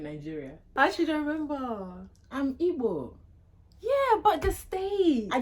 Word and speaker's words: Igbo: changed even the spelling they spell IB oh it's not IB or by the way it's igb the g is silent honey it's not that